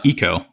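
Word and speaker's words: Ico: Guardian and uh the other game is uh Aiko or Eco how do you say it andron uh Eco oh it's one of those yeah okay so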